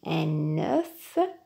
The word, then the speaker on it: un œuf: Au singulier, on dit un œuf. Le F se prononce.